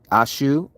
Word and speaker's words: Esau: How Esau, and that again, for those of you who know the true pronunciation, is Ashu or Ashu, shall be searched out.